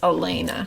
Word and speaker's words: Alaina: And if there's no I, it's Alana. But because there's an I, it's Alaina.